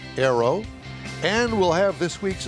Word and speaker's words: Ayro: us thank you good morning well did i pronounce it right arrow you did it spelled a little odd with